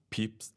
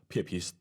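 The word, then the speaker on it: Pepys: ราย วั ของ เขา ชื่อ ของ บรรพบุรุษ อ่าน ว่า พิส แต่ เรา เรียก ชื่อ ครู กัน ว่า เพีย พิ สอน แต่ ภาษา อังกฤษ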